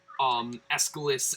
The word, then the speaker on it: Aeschylus: It's like AESCHYLUS okay, or something.